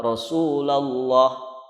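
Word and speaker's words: Rasulullah: Rasul ihwal udah bener kalau sebelumnya kasrah maka dibacanya tipis rosulillah kalau sebelumnya dhommah atau fatal baru dibaca tebal Rosulullah Rosulullah begitu nah ini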